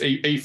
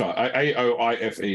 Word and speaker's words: Aoife: Or how to correctly pronounce Ifa, which... So, yeah. Siobhan? It's Aoife. A-O-I-F-E is Aoife.